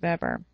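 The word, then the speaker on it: Weber: The bureaucratic theory was largely proposed by Max Vber. Uh it's spelled Webbr, but it's pronounced veber.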